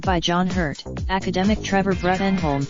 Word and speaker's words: Bruttenholm: Previously played by John Hurt, academic Trevor Bruttenholm pronounced Broom is Hellboys surrogate father